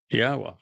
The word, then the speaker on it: Yahweh: It's a significant accomplishment since I painstakingly explain how one can prove that it is in fact pronounced Yahweh.